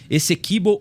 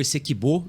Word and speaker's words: Essequibo: do território da Guiana, Essequibo ou Essequibo, eu já ouvi as duas pronúncias, enfim.